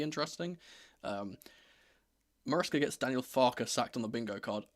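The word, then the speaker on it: Farke: I have a a personal beef with Daniel Farer, or should I say Daniel Farer? That's the way he wants his name to be pronounced.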